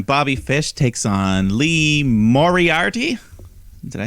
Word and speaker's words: Moriarty: But in the meantime, Bobby Fish takes on Lee Moriarty.